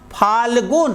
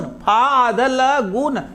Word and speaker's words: फाल्गुन: सभी लिखित ध्वनियों का उच्चारण होता है, मतलब आप सोचो जरा, इसको पढ़ेंगे। स्थान, देखो आधा स भी आपने पढ़ा, स्थान, फाल्गुन, फाल्गुन पढ़ेंगे नहीं, सब ध्वनियां आपके कान में जा रही है, फाल्गुन।